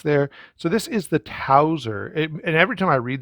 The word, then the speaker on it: Towser: the the specs there so this is the tauser and every time i read that name tauser